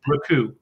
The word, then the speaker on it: Raku: I really like the Raku with, am I saying it right? I thought it was. Yeah, Raku.